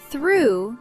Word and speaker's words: through: Through sounds like ooh.